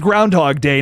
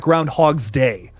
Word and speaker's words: Groundhog Day: for Groundhog Day which it is Groundhog Day not Groundhog's Day I been saying it wrong my entire life ladies and gentlemen but